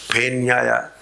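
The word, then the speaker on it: फेन्याय: That is how you have to pronounce. Phenyaya. You cannot say Namah Shashpyaya cha Phenyaya. You should not say like that. Pha it is, okay?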